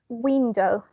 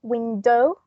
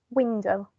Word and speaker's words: window: Here we have only 2 syllables. So it's window. We don't say window. Sounds weird, right? Window. It's window. So here the stress was on the first one.